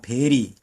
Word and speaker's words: bury: 땅에 묻다, bury. 대단히 하는 bury는 V-E-R-Y죠. 이건 B-U-R-Y인데 발음은 비슷하게 나가네요. bury.